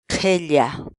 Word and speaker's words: qhilla: série de vídeos onde nós ensinamos você a pronunciar determinadas palavras em Quechua. Portanto, a nossa palavra do dia para hoje é Qhella, qhella, qhella.